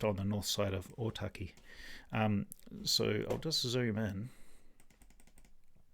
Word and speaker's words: Ōtaki: So the road that we're looking at goes from Ōtaki here, which is better pronounced Ōtaki, Ōtaki, yeah, something like that.